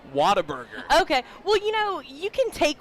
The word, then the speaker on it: Whataburger: It's Whataburger. Whataburger. Yes. Gotcha. Yes. Yep. Because I was telling the listeners earlier today that I have some Texans in my life that say Whataburger.